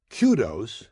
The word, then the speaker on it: kudos: Kudos, K-U-D-O-S, is a singular noun meaning praise, and it is properly pronounced kudos. There is also a plural form spelled the same, but pronounced kudos.